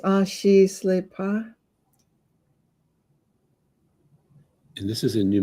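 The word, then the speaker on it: Ah-shi-sle-pah: It's pronounced Ashi Slepa.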